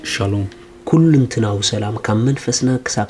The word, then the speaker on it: shalom: እዛ ሰላም እዚኣ ሻሎም እያ ትብል Den här friden uttalas shalom.